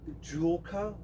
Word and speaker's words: Joolca: through a company out of Australia it's called Jula and I'll I'll spell it for you j o o l CA